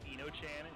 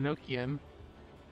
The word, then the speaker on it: Enochian: And called it Eno-chan. I pronounce it differently. I call it Enochian. Well, yeah, it's Enochian. That's how it's what it's supposed to be. That's the word. Oh, okay. Enochian coming from Enoch.